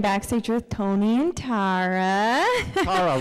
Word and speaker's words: Tara: Tara rhymes with tiara.